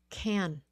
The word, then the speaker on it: can: eight rate crate okay can can remember the C Sound please can okay it's can can can with a long uh with with a short a can and if you put